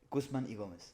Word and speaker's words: Guzman y Gomez: Guzman and Gomez, how you would pronounce it. Yeah. Is that how you say it? Guzman y Gomez.